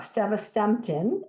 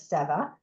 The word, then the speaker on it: Sevasemten: opportunity for us to talk about uh season is how you say it sometimes we refer to it as sea um the Topline results